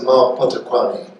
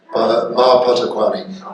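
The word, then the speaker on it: Mma Potokwane: Oh yes, that's Ma Potokwane. Ma Potokwane. The Ma in Setswana, which is MMA, the double M slightly accentuates the M sound.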